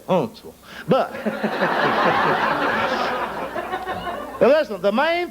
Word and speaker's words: Huntsville: Of course, now, if you're from Huntsville, you don't say Huntsville. You say Huntsville.